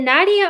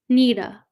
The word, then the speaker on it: Nita: Is it Nadia or Nita? Or correct me, because maybe I'm saying it wrong. Nita. Yeah, but yeah, Nita. Okay.